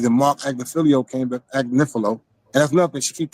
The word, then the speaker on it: Agnifilo: Mark Agnifilo came back, Agnifilo. And that's nothing. She keep pronouncing Mark. I said that because she be saying that. Mark Agnifilo, adding extra syllables on his man's name. His name is Mark Agnifilo.